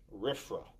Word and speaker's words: RFRA: The Religious Freedom Restoration Act, RFRA, pronounced RFRA, right?